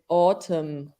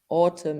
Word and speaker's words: autumn: spelling better spelling so the N is silent so it's autumn autumn in British English and